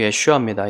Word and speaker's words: 예슈아: 예수라는이 발음은요. 여호슈아에서 왔습니다. 여호수아를 말하는 여호슈아. 여호시아가 여호수아가 여호시아거든요. 그 여호시아에서 호를 빼면은 예슈아가 돼요. 원래 발음이 예슈아입니다.